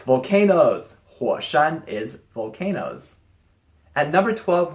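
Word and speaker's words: 火山: Mountain any guesses what it means it's volcanoes hua Shan is volcanoes at number 12 we have this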